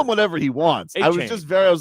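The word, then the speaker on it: Achane: It was A-Chain. Like it was I'll there. call him whatever he wants. A-Chain.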